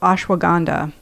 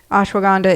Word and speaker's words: ashwagandha: A super herb, which is called ashwagandha. Ashwagandha, it's spelled a s h w a g a n d h a.